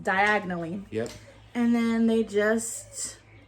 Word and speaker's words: Diagon Alley: Yeah, Harry he did not pronounce Diagon Alley correctly, which, if you look at it, it's just diagonally.